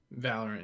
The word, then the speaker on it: Valorant: Valorant, yeah, Valorant.